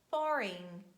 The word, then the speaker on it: foreign: And letter G is silent at the end of words when it's followed by letter N. And we say design, align, sign, foreign, rain, campaign.